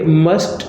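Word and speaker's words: mustn't: अब ये मस्ट नॉट है, तो जब इसकी कॉन्ट्रैक्टेड फॉर्म बनती है तो ये मसंट हो जाता है। मस्ट का टी जो है वो साइलेंट होता है, उसको हम बोलते नहीं हैं।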